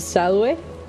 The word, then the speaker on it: salve: There's no V sound in Latin. It would be pronounced salve.